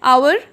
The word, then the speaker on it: hour: similarly R, HOUR होता है आवर, right, but यहाँ पे जो एच है वो साइलेंट है, ठीक है,